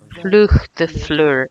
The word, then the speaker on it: Flugvöllur: And Flugvöllur is the pronunciation of the airport. Flugvöllur. It's more complex, and it's a combination of several strange sounds.